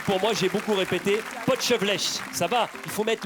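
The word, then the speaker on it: potjevleesch: Alors on dit le potchevlech, mais on peut l'appeler aussi le potch, et c'est plus facile.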